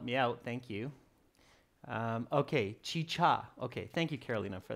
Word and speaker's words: chicha: Carolina is saying both should be pronounced chicha. Carolina, is that the right pronunciation, chicha?